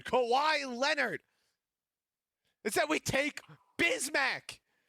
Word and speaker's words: Bismack: INSTEAD WE TAKE BISMACK. BRO'S NAME RHYMES WITH BIG MAC.